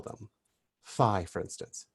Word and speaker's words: phi: how we spell them phi for instance p h i we pronounce this nowadays as f like in your father but originally it was